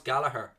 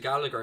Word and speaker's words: Gallagher: side are you gallagher why do i say gallagher when i know it's gallaher but i know the english is pronounced gallagher so i'm saying gallagher because he's english even though chubby gallagher